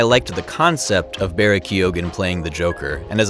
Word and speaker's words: Keoghan: Finally, I liked the concept of Barry Keoghan playing the Joker, and as a side note, you do pronounce Barry's last name with the G sound.